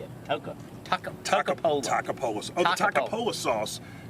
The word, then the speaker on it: Toccopola: Toccopola.